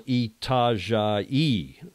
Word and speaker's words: Itajaí: My mom wants to know, Julia, how do you spell Itajaí?